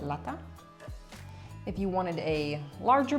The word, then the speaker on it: lata: I should have pronounced that T kind of hard. Lata.